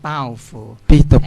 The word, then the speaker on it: Baofu: I go into that I just want to correct uh the pronunciation of my name yeah I'm Bauer my last name is